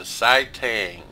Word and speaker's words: Saitang: The Saitang. Yes, that's the correct pronunciation.